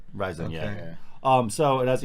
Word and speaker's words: Ryzen: if they actually said in the thing it's pronounced rising rising yeah um so it has eight core 16